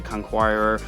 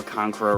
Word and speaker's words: conqueror: backstory there with kane the conquirer or conqueror rather i know i've been saying it wrong in many of my past videos not it's concord or not conquirer anyway that's besides the